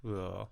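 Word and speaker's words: Cumhaill: It's spelled Cumhale, but I think it's pronounced cool.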